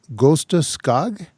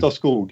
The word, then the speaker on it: Gösta Skog: Can you tell us about Gusta Skog? Again, the pronunciation is probably off. He had a movie camera. And what happened? Gösta Skog. It's a hard name to pronounce. But Gösta Skog.